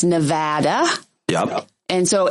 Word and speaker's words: Nevada: Yeah, if you're going to be on the radio or TV or just wandering around the Strip, it's Nevada.